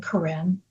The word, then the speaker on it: Corine: Uh, they can find me on Spotify uh under my name, Karen. Uh, can can you spell that?